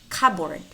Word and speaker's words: cupboard: Here we don't pronounce the letter P nor the letter L. Psalm. Cupboard, cupboard.